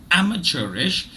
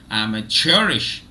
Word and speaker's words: amateurish: divides itself similarly but in the British English pronunciation the first syllable is stressed and in the American pronunciation the third syllable is stress no I just before